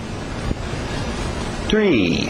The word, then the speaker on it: tree: Isso não é o número 3. Okay? Número 3 é com sapo. Three. Aqui nós temos um T atrás do dente de cima e o R está no mesmo lugar, bem nítida.